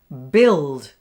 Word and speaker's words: build: And then there's this word, build, with the unusual spelling of ui for the I sound.